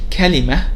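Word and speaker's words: كلمة: Normally, if the word that ends with ta marbuta comes separately, or there is a pause after it, you'll find that it is pronounced as ha. That's why when we say kalima, you'll find that it ends with a h sound.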